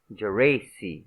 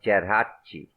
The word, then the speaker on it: Geraci: him for acceding to the American pronunciation of his name, Geraci instead of Geraci, and under numerous aliases.